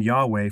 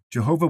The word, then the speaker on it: Yahweh: Jehovah was popularized in early English translations of the Bible, such as the King James Version, but it is not the correct way to pronounce the divine name.